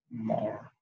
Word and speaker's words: more: You can see in this word, the R is actually on the silent mode. It's not pronounced. You rather listen to, you're making that kind of sound when you are pronouncing this word more.